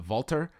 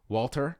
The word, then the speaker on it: Walter: and where we're going is a vaulter Walter I'm fine with either I mean we don't